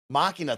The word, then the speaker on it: Machina: show uh the legend of fox mccann machina machina thank you so much i was gonna say